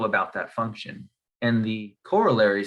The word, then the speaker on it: corollary: let's get to the corollary or corollary i've heard it pronounced both ways i think i prefer